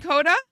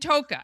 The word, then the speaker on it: Ntoka: Kenya and Kota. Toa. Oh, and Toka.